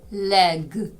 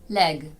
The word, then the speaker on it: leg: боротися не оглушуйте дзвінки приголосні в кінці слів вимовляйте їх чітко red red Bed Bed Leg Leg завдання Прочитайте перекладіть Та перепишіть ось ці слова